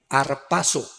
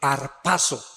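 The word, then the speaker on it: ἁρπάζω: Es la palabra griega arpazo con z, arpazo, que significa ser sacado de medio súbitamente o con fuerza.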